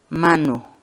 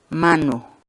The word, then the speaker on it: manu: de videos en la que te enseñamos a pronunciar algunas palabras en quechua. Así que nuestra palabra del día por hoy es mano, mano, mano, la palabra quechua.